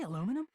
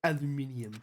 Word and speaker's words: aluminium: Did you say aluminum? It's pronounced aluminium.